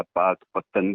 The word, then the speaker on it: पाकपटन: और तभी से इस कस्बे का जो नाम था वो पाक पटन के नाम से हो गया। पाक पत्तन भी कुछ लोग इसका उच्चारण करने लगे।